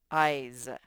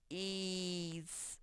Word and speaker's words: eyes: or this says eyes that s makes the z sound eyes that's a tricky one if you were to sound it out it'd be something like ease or yes you just have to remember e-y-e-s spells eyes tricky one walk we'll